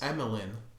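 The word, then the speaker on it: Amilyn: speaking of cut out oh her name is emeline but spelt with an a i thought about holdo's name or the actress's name holder's name is emilyn is this bloody game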